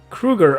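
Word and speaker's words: Sharon Kreuger: my name is Sharon Kruger Kruger okay I said it right it sounds like cougar I'm sorry in the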